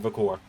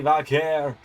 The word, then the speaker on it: Vaquer: I I nearly said Vakor. Stephanie Vakair has made her way down to the ring looking for her first championship in the LS11 universe tonight.